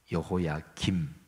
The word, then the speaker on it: 여호야김: 그러니까 유다의 왕 여호야김, 그리고 그의 아들 여호야긴, 아버지는 김, 미음 받침이고 아들은 긴, 니은 받침이 들어가요.